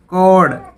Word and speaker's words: chord: CHORD, कोड। कोड होता तार, तो यहाँ भी एच साइलेंट है।